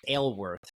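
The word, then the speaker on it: Aylwrth: real last name is aworth like you I have the curse of a name that no one can pronounce or say it's a Welsh name and so it's spelled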